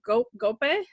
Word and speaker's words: Gope: Now, in the original, in the Chori Chori, it's an actor, I think his name is Gope. Is that how you pronounce it? It's Gope, yeah. He was a very sort of famous side character.